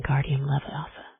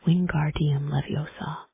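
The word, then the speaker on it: Wingardium Leviosa: You're saying it wrong, says Hermione in an impatient voice. It's Wing Guardium Leviosa. You emphasize the gar.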